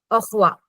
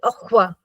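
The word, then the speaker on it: au revoir: see you again goodbye okay but how we pronounce it it is awa okay we don't say we just say awa aqua yes can you try Sorry, I was on mute.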